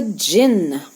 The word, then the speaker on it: jinn: and right after that there came along the jinn this is the jin the d is silent the jinn is a spirit of the